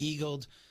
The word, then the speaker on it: EAG-LED: It's pronounced eagled, just like, you eagled the hole.